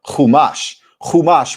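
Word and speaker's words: Chumash: Kumash refers to the five.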